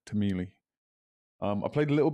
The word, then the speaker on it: Timelie: and the whole time i was reading it as timeline and there is this diagonal line which does suggest timeline so it's my own fault you get revenge on it i think i'll pronounce it tameli um i played a